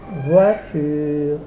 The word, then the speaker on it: voiture: pas de I dans voiture il y a le phonem O o avec I ça se prononce W et non i donc il n'y a pas de i dans voiture maintenant le livre